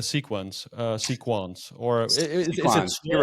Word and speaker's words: Sequans: Look, I say it the way that their founder says it. Okay. You Yeah. can argue with French people and they're like, the S is silent and it's Yeah. it should be Sure. sequon. I'm like, George says sequans. I'm rolling with that.